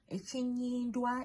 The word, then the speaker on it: Ekinnywindwa: Ekinnywindwa is EKINNYINDWA.